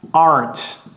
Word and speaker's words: aren't: Aren't. Et ça se prononce aren't. Aren't. Ce n'est pas aren't. Ce n'est pas rent. Et ne roulez pas le R non plus.